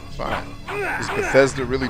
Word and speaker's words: Bethesda: Is Bethesda really Bethesda?